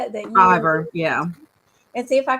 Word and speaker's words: Fiverr: Fiverr, yeah.